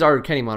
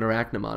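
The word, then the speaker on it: Arukenimon: him uh arachnomon or i recently found out that's pronounced like like it is our kennymod right right but the way it's spelled is like really weird it's like our arch archnemon like it's not even arachnomon it's archenemon or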